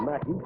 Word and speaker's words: McKie: It's spelled M-C-K-I-E. He pronounces it Mackie.